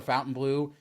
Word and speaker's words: Fontainebleau: the people talking about how we say Fountain Blue even though we're saying it right and now here we